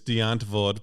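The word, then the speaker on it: Die Antwoord: Do you know, I think the proper pronunciation is Diantwoord, but it's Diantwoord. Yeah. It reads as Diantwoord. It's South African, and my South African friends it's Diantwoord. I hear it as giant words.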